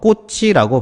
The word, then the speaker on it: 꽃이: 표기 글자 치은 바로 뒤로 이렇게 여음이 돼서 꽃이라고 발음을 하죠 또 마찬가지로 꽃이라고 하는 어 제시가 되어